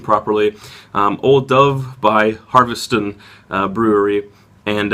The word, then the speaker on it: Ola Dubh: name it looks like Ola do but apparently it's old Dove like the B and the H make a v sound so I want to get the pronunciation properly um old Dove by harveston uh Brewery